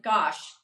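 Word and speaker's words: gouache: gach actually hold on there's there is a way to pronounce I'm not even gosh gosh I think gosh gosh I can say gosh yeah there's no really wrong way to say it people say it different ways but yes now are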